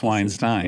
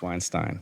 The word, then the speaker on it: Weinstein: Um and you know it's a German word. It has a meaning and so there is a correct pronunciation. Okay. And it's Weinstein. And it's Weinstein.